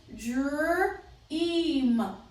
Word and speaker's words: dream: And again, I have 2 vowels. So the first one is long, second one is silent. The word is dream. Dream. Long vowel E.